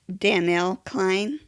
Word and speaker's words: Danell Cline: nervous too I want to make sure I pronounce your name correctly it's Danielle Klein yes that's amazing that you said it right